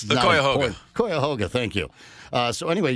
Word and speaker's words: Cuyahoga: whose name I'm not going to try and pronounce. The Cuyahoga.